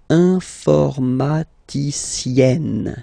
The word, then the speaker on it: informaticienne: And you get the sound informaticienne. Sienne. Remember E and then double N, or then it could be double L or double consonant here. You open your E, so it's E. Informaticienne.